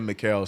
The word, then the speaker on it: Mikal: Magic said, I wonder if Mikal is pronounced Michael, and we've been saying it wrong these years. Nah, his mom said it in the draft. The little draft packages? I remember his mom was talking. She said Mikal several times.